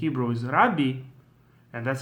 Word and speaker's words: Rabbi: so as I said in most of the commonly uh accepted tradition you call the person rabi and that's how it